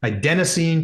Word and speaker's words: adenosine: the other day because I pronounced it wrong adenosine triphosphate hopefully I said it correct that time I said addine triphosphate I got murdered by